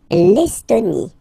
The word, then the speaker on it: Estonie: L'Estonie, final E, not pronounced.